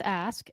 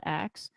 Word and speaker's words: ask: It's ask, A-S-K, not axe.